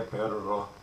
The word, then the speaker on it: perro: Hacer perro muerto, that's to make a dead dog. And I should be pronouncing that double R, hacer perro muerto.